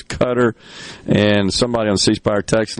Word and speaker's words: Qatar: uh I pronounced it Qatar because that's the way it's spelled and my mind was just not thinking I've heard it a million times I know it is pronounced as cutter and somebody on sepire